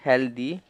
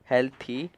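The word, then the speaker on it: healthy: फिर दी, हेल्दी, इसमें जो जो TH है उसे द पढ़ते हैं, हेल्दी, हेल्थी। इसे कई बार थ भी पढ़ा जाता है, कोई लोग इसे थ में प्रोनाउंस करता है जैसे हेल्थी, और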